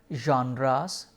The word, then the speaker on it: genre: Most of the times people confuse forms with genres. Please notice the pronunciation of the word "Genre"; it's a it has a French root- Genre.